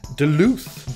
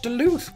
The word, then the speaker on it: Duluth: I went to Wikipedia and I clicked the pronunciation play button Duluth delete what Duluth well again it turns out it's actually a